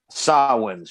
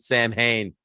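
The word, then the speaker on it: Samhain: Sa wins first. He pronounced it correctly. He pronounced it correctly because everyone else pronounces it Sam Hain, which is not.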